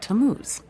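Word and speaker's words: Tammuz: what t a m m u z it's pronounced tamuz maybe if you show him your evidence he'll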